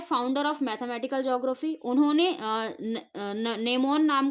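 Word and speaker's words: gnomon: of mathematical geography उन्होंने नेमोन नाम का एक इंस्ट्रूमेंट डिस्कवर किया था उस इंस्ट्रूमेंट का नाम क्या है नो मैन नो मैन जी जी साइलेंट है इसमें एन ओ एम ओ एन नो मैन ठीक है नो मैन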